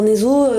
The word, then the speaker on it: Neso: Alors, Nezo, le nom comme ça paraît un peu bizarre. Ça s'écrit Neso.